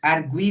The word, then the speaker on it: argui: Mas quando a gente fala ele argui, é esse U que é forte.